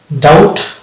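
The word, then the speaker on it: doubt: এটা কিন্তু বি এখানে চলিত হবে না এটা উচ্চারণ ডেট ডাউট সাটেল এখানে বি উচ্চ থাকছে এবার কিছু শব্দ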